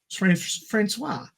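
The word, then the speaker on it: François: Johnston's team includes Scottish archaeologist Andre Marrick, Johnston's student Kate Erickson, Josh Stern, and Francois. That's how you're supposed to pronounce it.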